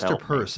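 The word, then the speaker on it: Peirce: hard names pronounce actually Hester Pierce has a weirdly it's easy to pronounce but a weirdly purse is actually how it's pronounced really oh really yeah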